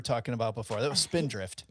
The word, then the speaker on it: Spindrift: That was Spindrift. It begins with an S and rhymes with Mindrift.